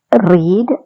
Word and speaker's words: read: இது நீங்க ஸ்பெல்லிங்ல பார்த்தா மூன்று முறை மாய்தான் இருக்கு, READன்னு சொல்லி. ஆனா வாசி கேட்கல, நாங்கள் ABB பேட்டர்ன்ல தான் வாசிப்போம். சொல்லி பாப்போமா? ரீட், ரெட், ரெட்.